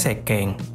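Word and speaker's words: せっけん: Kemudian K yang kedua adalah ke, kemudian eng, sehingga sekeng. Nah, mengenai pengucapan atau pelafalan, konsonan ganda ini biasanya ditekan pengucapannya. Contohnya gini, dengerin Minasan. Sekeng, sekeng, ya. Antara C ke K-nya itu ditekan, gitu.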